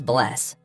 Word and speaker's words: Bless: Goodbye is bless.